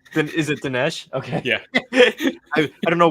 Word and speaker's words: Dinesh: Is it Dinesh?